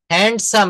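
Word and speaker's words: handsome: Please ক্লাসের শব্দ আসছে হ্যান্ডসাম হ্যান্ডসাম এখানে ডি কিন্তু silent letter হ্যান্ডসাম হ্যান্ডসাম হ্যান্ডসাম মনে রাখবেন এই ধরনের এইশিটগুলো আমি দিয়ে দিব।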